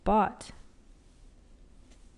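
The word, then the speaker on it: bought: changes to this spelling bot notice the pronunciation we don't pronounce the G and it's the same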